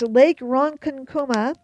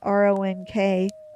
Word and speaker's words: Lake Ronkonkoma: Yes, that's correct. Lake Ronkonkoma. And for those of you who aren't sure I'm saying that right, it's Ronkonkoma, is a lake in